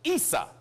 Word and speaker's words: Issa: the brother of Jacob in Arabic his name is pronounced Issa but Issa in English